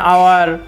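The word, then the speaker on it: hour: I will come an আওয়ার বি হি ইজ an honourable teacher প্রথম এক্সাম্পলে এজ এখানে হি হো হা উচ্চারণ হয় নাই সেকেন্ড এক্সাম্পলে অনারেবল অনারেবলের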